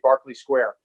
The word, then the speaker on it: Berkeley Square: was about to say barkley square which is so weird because it's spelled berkeley square i don't know why